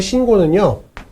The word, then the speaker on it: 신고: 새 신을 신고 뛰어보자 팔짝 이라고 했을 때 여기서의 신고는요, 신고로 발음됩니다. 왜냐하면 여기서 새 신을 신고에서의 신고는요, 용언의 활용형이거든요. 용언의 활용형이 맞거든요. 그래서 새 신을 신고에서의 신고는 용언의 활용형이 맞기 때문에 된소리 대기, 니은하고 기역하고 만나서 쌍기역이 되는 된소리 대기가 일어납니다. 그래서 최종적으로 발음은 신고가 되는 겁니다. 신고.